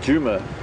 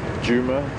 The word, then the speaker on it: Djuma: as inov or even Juma is often mispronounced as you don't pronounce both of the vowels or rather the consonants separately that's like the Juma